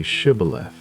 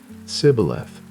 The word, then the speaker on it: Shibboleth: If he said, "No," then they said to him, "Now say Shibboleth." And he said, "Sibboleth." For he couldn't manage to pronounce it correctly.